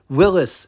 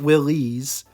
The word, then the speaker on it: Willys: Yes, Willis is the correct way to pronounce the brand, not Willies.